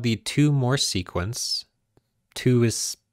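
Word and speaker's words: Thue: though so there is a sequence called the two more sequence two is pronounced two and spelled t-h-u-e and it's denoted t sub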